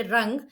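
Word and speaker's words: wrung: W-R-U-N-G, rung. And here W is silent letter. So we have to pronounce from R-I-N-G, ring.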